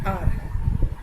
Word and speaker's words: hour: मतलब कि साइलेंट का मतलब हम H को प्रोनाउंस नहीं करते हैं. हम ऑनेस्ट नहीं कह रहे हैं, हम हावर नहीं कह रहे हैं. ठीक है? तो क्योंकि ये H साइलेंट है, तो दे phonetically they begin with a vowel.